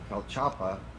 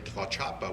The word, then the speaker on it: Tlaxcala: and the OXA, so you have 3 syllables in that word, like Oaxaca, you know, well, and like I say, the stops for the syllables, and then the TC is Tlaxcala, there's actually 3 syllables there, but you have an extra stop.